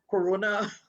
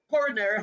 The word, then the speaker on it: coronary: So, like cardiovascular disease, like last week, I mispronounced that word when I said corona heart disease. It was Mm-hmm. actually coronary heart disease, right?